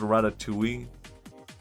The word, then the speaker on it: ratatouille: It's just, you know, the dish, ratatouille. Is that how you... ratatouille? Did I pronounce that wrong? It's pronounced ratatouille.